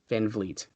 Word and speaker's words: Van Vliet: to me we're like friends chris van vliet van vliet okay he's like a kind of a well-known